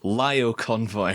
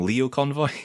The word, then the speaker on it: Lio Convoy: the upcoming transformers masterpiece MP 48 leo our lyle convoy her either in my previous video when i was talking about this guy when the initial pictures first came out I called him leo convoy but I've since found out that it's actually